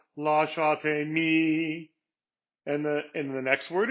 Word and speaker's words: lasciatemi: In this particular case, it's the second syllable. So it's lasciatemi instead of lasciatemi.